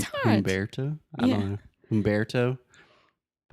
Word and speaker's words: Humberto: How do you say Humberto in English? It's Umberto. Really, it's a Spanish name. So we'd say, I think most Americans would say, It's hard. Humberto.